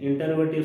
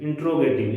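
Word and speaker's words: interrogative: Third one इज इंटरोगेटिव sentence, इंट्रोगेटिव, इसका सही उच्चारण है इंट्रोगेटिव सेंटेंस।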